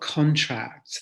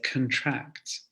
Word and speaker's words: contract: the pronunciation it's not contract the the stress actually falls on the second syllable and we say contract so be careful with